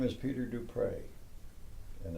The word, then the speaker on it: Du Pré: small r-e, and pronounced Dupré and not Dupree. It's just a personal thing, but a lot of people use say Dupree, and that's not. It's Dupré with an accent on the E.